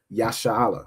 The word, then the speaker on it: Yasha'ala: Then you'll say ban or bath again, goes brother or sister, Yasha'ala, which is how you'd say Israel in Hebrew.